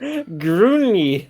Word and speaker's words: grenouille: Gruni, according to Google Translate.